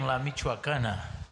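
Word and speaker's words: La Michoacana: Give us the pronunciation on the on your ice cream shop. Ice cream. Lamuakana. Lamuakana.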